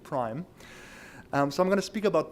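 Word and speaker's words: PRME: it like PRM e we actually now a logo have a little eye hidden in the M so it's easier to pronounce it Prime so I'm gonna speak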